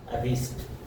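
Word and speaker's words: wrist: Next, W कहां silent होता है, डब्ल्यू कहां साइलेंट होता है, डब्ल्यू के बाद में आर आता है तो डब्ल्यू साइलेंट होता है, डब्ल्यू का उच्चारण नहीं होता।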